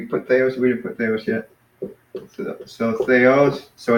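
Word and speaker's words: θεός: there was yet so they O's so it's they are I know I sometimes tend to say Theo's but it's no it's they OS so that's kind of a bad habit among um sorry no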